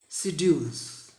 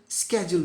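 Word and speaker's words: schedule: यहाँ एक बात ध्यान में ले, जनरली हम इसका उच्चारण शेड्यूल करते हैं, शेड्यूल, लेकिन इसका अमेरिकन प्रोनाउंसिएशन स्केड्यूल भी होता है, स्केड्यूल्स और शेड्यूल्स।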